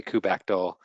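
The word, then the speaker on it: kubectl: do you pronounce that there are a hundred ways to pronounce that word everything is their own their own opinion all right I say coop I say coop cut also people say cout back dole okay CTL this is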